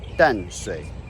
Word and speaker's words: Danshui: Tamsui comes from the Taiwanese pronunciation of Tamsui, and Danshui comes from the Mandarin pronunciation of Tansui.